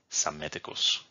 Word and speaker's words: Psammeticus: Altogether, this reads Psamtik, which in anglicized reading is pronounced Psamtik, or according to Latin and Greek historiography, Psammeticus.